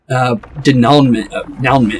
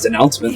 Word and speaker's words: denouement: But the denouement apparently is how you say that. I thought that was denouncement this entire time.